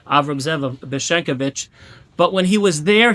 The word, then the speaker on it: Beshenkovich: Last week I pronounced it Beshnikovich, so excuse me for pronouncing it wrong. Avram Zev of Beshenkovich.